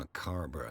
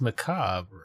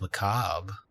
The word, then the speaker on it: macabre: macabre what it's just i'm a car bra souvenir it's just macabre right that's not how